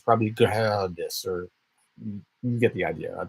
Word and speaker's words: Gerdes: I sat next to a German businessman once, and I wrote down my name, and I said, how do you pronounce it? He said, Gerdes. Like, he rolled the R like in a way that I can't even pronounce my own name.